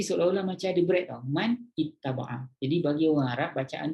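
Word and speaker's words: مَنِ اتَّبَعَ: Dia sebenarnya man ittaba'a tau sebenarnya kalau ikut dia punya ejaan. Tapi Rasulullah ajar kita baca, untuk baca Quran jangan baca man ittaba'a, salah. Rasulullah ajar kita baca man ittaba'a, kan beza.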